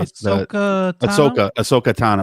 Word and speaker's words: Ahsoka Tano: Ahsoka Tano.